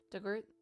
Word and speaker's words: Dugort: Pronounced Dug like the past tense of dig, or it rhymes with hurt.